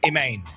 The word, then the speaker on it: Imane: So a mix of Pokemon and her name Imane, which actually is pronounced Iman.